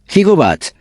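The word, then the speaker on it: gigawatt: stokowski como detalle adicional brone pronuncia la palabra gabat como jobat ya que esta era la forma en la que un físico pronunció dicha palabra durante una reunión que tuvo con cekis gale Al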